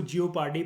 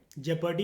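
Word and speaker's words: jeopardy: इसको जियोपार्डी बोलते हैं, जेपर्डी बोल सकते हो। जेपर्डी इज़ the correct pronunciation.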